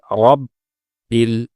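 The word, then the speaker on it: رب: তৃতীয় শব্দ রব, এ শব্দে র এর উপরে যেহেতু জবর এসেছে, এজন্য র মোটা করতে হবে। কিন্তু আমরা আমাদের তেলাওয়াতের সময় রকে অনেক সময় মোটা করে পড়ি না, যেটি ভুল। উচ্চারণটা হবে রব বিল।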